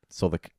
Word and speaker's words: Southwark: If you say that, it's like saying 33. You can't be saying saying Southwark. it correctly. People will make fun of you. But like, So you just need to accept it, swallow your pride, and say Southwark.